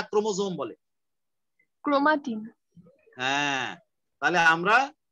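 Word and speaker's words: chromosome: ক্রোমোজোম, ক্রোমোসোম বলারও দরকার নাই, যেহেতু এস আছে কিন্তু তোমরা উচ্চারণ করবা ক্রোমোজোম, একদম সোজা ক্রোমোজোম।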